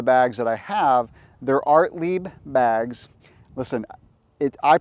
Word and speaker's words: Ortlieb: I showed the bags that I have they're art Le bags listen it I pronounced it artly because I went on their website and looked